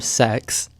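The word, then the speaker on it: CeX: Computer Exchange, or SEX, yes, that is really how it's pronounced, is a British high street store that specializes in pre-owned games and electronics.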